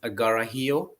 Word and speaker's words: Karhiio: of the word is agarahio it's written with k but it's pronounced with g do you know what